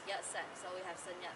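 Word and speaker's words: Yat-sen: sun wood and when and cantonese are pronounced as yet sen so we have sun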